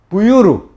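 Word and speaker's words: Буйр: 그리고 몽골 비사에 보면은 부이르라는 지명은 이거는 부유르 이렇게 읽어요.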